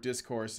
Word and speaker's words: discourse: The accent on the word discourse is the first syllable, not the second one.